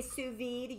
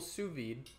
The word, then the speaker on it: sous vide: I know it looks like it's sous vide, but it's, it's a French thing. They don't pronounce half the letters.